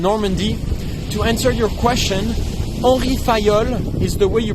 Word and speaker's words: Henri Fayol: san valenco in normandy to answer your question orifayol is the way you pronounce the name of the guy who invented